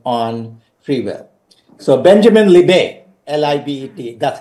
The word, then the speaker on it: Libet: if you could explain with reference to the Libet experiments, where the calculation was made that before the decision was made, the motor neurons came into action and something such.